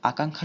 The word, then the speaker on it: আকাঙ্ক্ষা: আকাঙ্ক্ষা শব্দে ব্যঞ্জন বর্ণের সাথে থাকায় ক্ষয়ের মতো উচ্চারিত হয়।